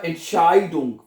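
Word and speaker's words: Entscheidung: बता चुका हूं कि जर्मन जुबान में जब इ आई इकट्ठा आता है तो उसको आई कह के प्रोनाउंस करते हैं आई तो ये बनेगा इंशााइदंग फैसला अच्छा अब इसका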